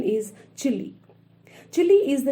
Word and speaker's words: Chile: great poet of Chile c-h-i-l-e don't get confused the pronunciation of this word is not child but it is chilly in Spanish it is pronounced as Chile but in English its pronunciation is chili Chile is the name